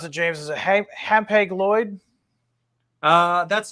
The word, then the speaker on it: Hapag-Lloyd: Is it Hapag-Lloyd? That's how I pronounce it.